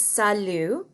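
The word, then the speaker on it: salut: bonjour bonjour and then the next term is salu and that t is silent and salu is kind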